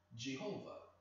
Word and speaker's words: Jehovah: God, the true God, who calls himself Jehovah. That's the English pronunciation.